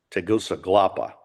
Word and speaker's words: Tegucigalpa: Oh yeah, in the capital city there that they all call Tegas because it's so hard, long 5-syllable. Tegucigalpa Oh, is, you go.